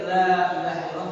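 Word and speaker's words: لا إله إلا الله: Makanya kan kata ulama, ketika kita baca zikir la ilaha illallah, maka panjangkanlah kalimat yang panjang.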